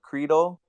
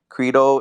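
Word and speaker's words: Qredo: there are so many one of them was Credo which is spelled q r e d o Credo it's a layer two that's building on ethereum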